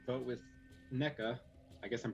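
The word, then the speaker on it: Nneka: So if Jesse were to like vote with NECA, I guess I'm pronouncing her name wrong. It's not NECA, it's NECA.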